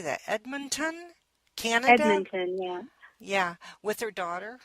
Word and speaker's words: Edmonton: Edmonton, yeah.